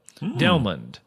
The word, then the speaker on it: Delmon: The O-N-D part of Delmon is pronounced like almond. LOL. Delmond.